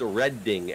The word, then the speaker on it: Reading: The correct way to pronounce the name of railroad is Redding, as in Reading, Pennsylvania.